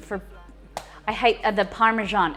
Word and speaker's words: Parmesan: American pronunciation for, I hate the Parmesan, it's Parmesan.